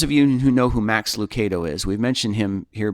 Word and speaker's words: Max Lucado: was talking about him and he said it's pronounced max lucato and i went well i was just listening to max lucado on the radio and he pronounces his own name max lucado and the thing i'll always remember is this